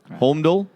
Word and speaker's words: Holmdel: Holmdel? Holmdel? I don't know. I wasn't there. How do you say that? Holmdel? It's a Homedale. Holmdel? Homedale. Hold on Dale? Hold my Dale. Homedale.